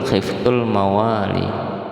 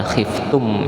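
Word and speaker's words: خفت الموالي: Jadi bacanya khiftul khiftul mawali. Bukan khiftum ya, tapi khiftum mawali bukan tapi khiftul mawali.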